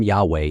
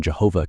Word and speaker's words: Yahweh: And though there is currently no consensus on the structure and etymology of the name, the form Yahweh is now almost universally accepted, although the previous vocalization Jehovah continues to be widely used.